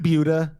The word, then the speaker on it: Buda: Buda.